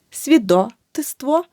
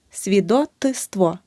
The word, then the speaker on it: свідоцтво: перед ситви не випадає далі свідоцтво братство неправильно свідотиство Свідок свідоцтво рука ручка